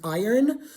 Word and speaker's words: iron: And of course, one of my favorite ones, iron. In in American English, it's pronounced iron. So the R is before the N, but it's spelled I R O N.